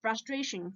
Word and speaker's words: frustration: you can't get so did you notice that the syllable before the tion is stressed so it's it's not frustrating it's frustration frustration also means frustration frustration